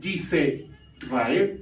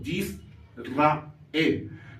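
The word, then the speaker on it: יִשְׂרָאֵל: palabra que es yisrael No y rael sino yisrael por qué Porque el punto que es una vocal I que se llama iric es una vocal corta Por ese motivo esta cheeva no se pronunciaría no se emitiría su sonido y en español pues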